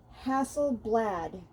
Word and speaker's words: Hasselblad: And it says co-developed with Hasselblad.